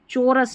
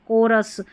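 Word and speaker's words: chorus: चोरस नहीं कोरस।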